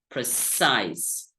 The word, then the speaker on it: precise: right now Pro size two syllables the primary stress is on the second syllable precise precise so this is how